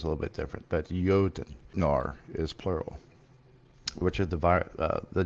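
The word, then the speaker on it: Jötnar: It's pronounced the Jotnar as plural.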